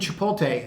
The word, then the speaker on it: Chipotle: some action also um I did not think Chipotle and uh I called the company that is the right way to pronounce that name and if you look here